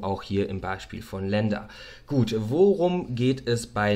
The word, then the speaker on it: LNDR: Das Ganze wird Lender ausgesprochen. Lender ist das englische Wort für Kreditgeber. Geschrieben wird es tatsächlich LNDR.